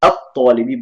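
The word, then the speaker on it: الطالب: Now I'm pronouncing it as al-talibi just for teaching purpose. I know some of you would have studied the rules pertaining to pronunciation. Normally it would be at-talibi, but for the purpose of this session, I'm going to pronounce everything separately.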